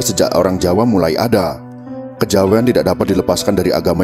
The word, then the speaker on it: Kejawen: Kejawen adalah kata bentukan yang berasal dari kata kejawian dengan keluasan lidah orang Jawa diucapkan menjadi kejawen.